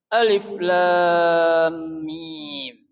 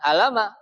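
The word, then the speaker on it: الم: Jadi kita bacanya bukan alam tapi alif. Lam mim satu-satu kita baca ya. Alif 1, lam 1, mim mim 1.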